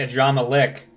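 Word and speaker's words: Adramahlihk: forever okay you know you need to communicate to the voice actors to pronounce the words the same way because no one else pronounces it and drama leak they say a drama lick this won't do i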